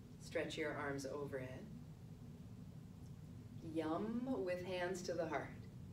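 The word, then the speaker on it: yam: referred to as seat syllables and the seed syllable for the heart chakra is yum Y a M you can try it with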